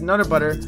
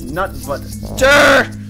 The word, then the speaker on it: Nut Butter: Buck, you always say my name as Nutter Butter, but it's Nut Butter.